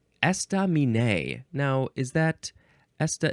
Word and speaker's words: estaminet: being H next is esta Min esta Min now is that esta it looks like those first three syllables none of them get emphasized more than the others estam it is spelled